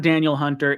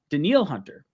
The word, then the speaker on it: Danielle Hunter: this guy's name wrong it's not daniel hunter it's daniel the neil hunter this is me learning words today uh or yesterday danielle hunter so he's got a